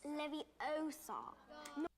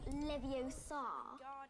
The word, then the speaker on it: Leviosa: You're saying it wrong. It's Levie Osar. Chamber of Secrets. My favorite. Just saying. Not Leviosa.